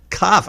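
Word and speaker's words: כ: middle of the word, and the final Kaf, which can either be pronounced Cha or Ka.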